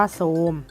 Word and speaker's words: โทรม: ทรง แบบ นี้ อ่ะ ต่อ ไป โทรม นะ คะ อ่าน ว่า ซูม พุทรา อ่าน ว่า พุทรา